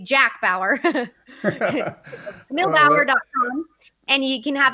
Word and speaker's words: Bauer: It's Kamille, Kamille, and then Bauer, B as in boy, Auer, like Eddie Bauer. Or if you were a 24 series fan, I say Jack Bauer.